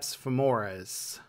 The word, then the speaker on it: quadriceps femoris: Let's start with the first muscle – the .